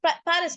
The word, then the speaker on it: Paris: In French, we say Paris. We call it Paris. We don't pronounce Paris, we say Paris.